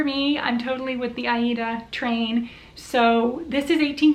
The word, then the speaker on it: Aida: crostich recently talked about the pronunciation of ada actually being aida that was how the original manufacturers in the 1800s pronounced and jean farris has talked about that more than once on her channel and she always says aida i do prefer to say aida as well i'm hopping on